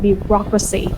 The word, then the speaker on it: bureaucracy: one we have government bureaucracy okay bureaucracy you put the stress on the second city we'll say be raw